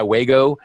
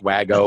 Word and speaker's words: Wago: I call it Let Go My Waygo. Actually, I think it's pronounced Wago. But I'm sorry, I've changed the pronunciation of these guys to fit my cutesy little article.